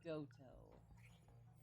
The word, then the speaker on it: Goto: Man named Goto. It rhymes with Boto.